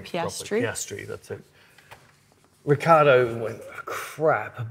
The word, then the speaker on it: Piastri: Piastri, that's it.